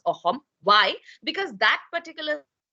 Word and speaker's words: Ahom: में असम कहते हैं, but actually the word is अहोम, okay, अहोम. ट्राई एंड pronounce this like you hear me say it. Try and pronounce it. Ahom. All right? Ahom. It's not ahom. It's not akhom. It's ahom. Ha.